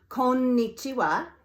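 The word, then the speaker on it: こんにちは: Remember that because the sound N stands alone, when it's in the middle of a word, it gets a full beat in terms of the pronunciation. And the word for good afternoon, konnichiwa, is a perfect example of this.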